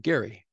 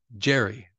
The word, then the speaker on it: Gary: I pronounce my name Gary, not Jerry.